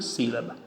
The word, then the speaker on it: sílaba: Sílaba, aqui está a tonicidade. Última, penúltima, por isso foi acentuada.